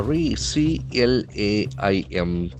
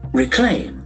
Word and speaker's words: reclaim: Reclaim. Reclaim to take back something that was yours. Reclaim. So the pronunciation is very interesting. Reclaim. Reclaim. There are two syllables and the accent falls on the second syllable.